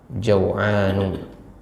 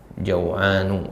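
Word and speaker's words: جوعان: situ kata Jaan ya Ini bacanya tanpa tanwin jaanu ya Ini ada kesalahan penulisan di situ yang benar adalah tanpa tanwin Hamidun Jaan ya dia termasuk kata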